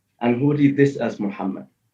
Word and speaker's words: Muhammad: could pronounce it Mahmud you could pronounce it Muhammed right right and that would be the answer it could be pronounced either of these ways either of these ways the scholars okay have said Muhammad okay the scholars have